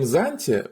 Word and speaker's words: Xantia: The name Xantia, with an ancient Greek pronunciation of the letter X, doesn't mean anything specific.